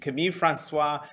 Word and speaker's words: Camille François: that alex gibney and i've learned the correct pronunciation of your name kami kami francois thank you both very much for joining us